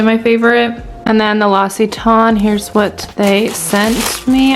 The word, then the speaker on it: L'Occitane: And then I got another package from the brand L'Occitane. I'm finally saying it right. I usually called it L'Occitane. Like I literally never knew how to pronounce it.